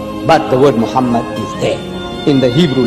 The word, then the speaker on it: Muhammad: vowels, it can be read as Muhammad, which is the name of the Muslim prophet, or as Mamad with no A after the H. According to Ben Yehuda's Hebrew English Dictionary, it is correctly pronounced as Muhammad, not Mamad.